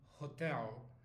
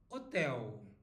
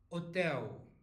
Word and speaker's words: hotel: last thing here is the h letter in Portuguese it is silent so we don't say like in English hotel we say hotel hotel okay got it and